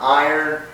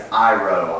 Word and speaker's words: Iroh: His name is not Iron, it is Iroh.